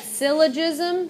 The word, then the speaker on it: syllogism: The second one, you pronounce that syllogism.